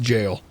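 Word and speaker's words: gaol: It's not goal. It's pronounced jail.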